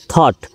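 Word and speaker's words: thought: এইচ টি থট কিন্তু এখানে দেখেন ও ইউজি এইচ এর উচ্চারণ নেই থট চাচি রিড চিন্তা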